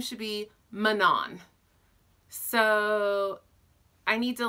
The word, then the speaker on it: Manon: in my head I said her name as Manon it's spelled ma n om so she's to me